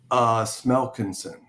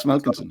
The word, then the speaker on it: Smelkinson: Smelkinson. Yeah. It's as you read it, Keith. Smelkinson, buddy. It is Smelkinson, yeah.